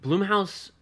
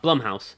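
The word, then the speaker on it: Blumhouse: that later um but Bloom house does horror I'm sorry I did it for years until I actually heard him say his name was Jason bloodman I went oh okay uh Blum House yeah um I can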